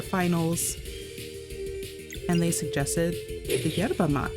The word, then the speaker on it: yerba mate: And they suggested the yerba mate. They said yerba mate. That's how they pronounced it.